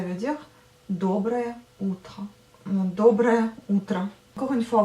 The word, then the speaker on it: утро: Donc bon matin, ça veut dire доброе утро, доброе утро. Encore une fois, vous écrivez утро, mais vous prononcez утро.